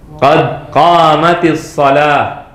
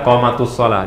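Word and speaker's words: قد قامت الصلاة: Pakai kasrah, bukan tu ya. Ada yang baca qamatus shalah di Saudi. Nah, dulu muadzinnya bacanya qad qamatus shalah. Karena nggak belajar, dia salah bacanya. Orang Arab asli bacanya salah. Qad qamatus shalah. Kaif qad qamatus shalah? Qad qamat as-shalah. Sukun ketemu sukun jadi kasrah. Qad qamatis shalah.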